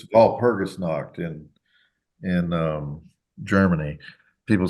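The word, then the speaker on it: Walpurgisnacht: of me because I do the ger German pronunciation but it's V perus KN in in um Germany people say stop doing that call it wall perus not you know proun anyway the uh um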